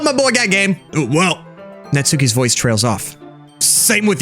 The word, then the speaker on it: Natsuki: Also, I was told that her name is pronounced Natsuki, but I'm gonna call her Natsuki, because I'm dumb and white.